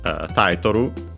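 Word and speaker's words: タイトル: And yeah, then we have taitoru, title from English, should be accented on the first syllable. And yes, it is. We have then gamen.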